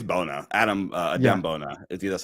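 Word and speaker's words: Adem Bona: I could hear I think it's Bona Adam Adam Bona that's how you pronounce it um that's hilarious Trevor Trevor there's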